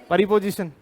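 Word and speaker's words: preposition: एक बार फिर बोलना इसे बोलते हैं प्रपोजिशन एक बार फिर बोलना ना कि प्रीपोजिशन आप क्या बोलते थे प्रीपोजिशन प्रोपो जिशन बोलते थे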